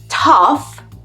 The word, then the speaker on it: tough: But anyway, that was a good example to show you that tough, enough, and rough, which means not easy or smooth, are all pronounced like uff.